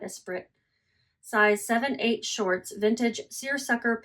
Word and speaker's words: Esprit: And then the shorts are Esprit. That's how you say it, guys, not Esprit.